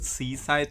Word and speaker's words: C-Side: Wait, the band is called Seaside, but it's spelled like C-side.